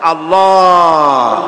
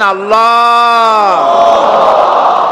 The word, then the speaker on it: আল্লাহ: আল্লাহ আল্লাহ পাকের উচ্চারণটা হচ্ছে আল্লাহ পাকের নামের উচ্চারণ হচ্ছে আল্লাহ মুখটা একটু গোল হয়ে যাবে বলেন আল্লাহ আল্লাহ সুবহানাল্লাহ পৃথিবীতে বিভিন্ন জাতি তার